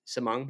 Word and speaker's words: Samong: hey you should interview samong and I'm pronouncing that right right samong you're you're nailing it all right cool anyways